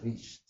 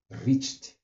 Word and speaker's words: reached: that an answer was reached, R-E-A, did I say it right? Yes, reached, not R-I-C, R-E-A-C-H-E-D, reached, that you have arrived at an answer, that it implies that you have arrived at an answer.